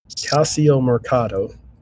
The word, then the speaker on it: Calciomercato: Calciomercato.